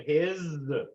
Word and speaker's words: His: sends the electricity down through the bundle of His that's how it's pronounced h-i-z bundler is and then splits into